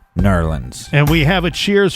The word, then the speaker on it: New Orleans: have Alex and Colin or how it's properly pronounced nerlands and we have it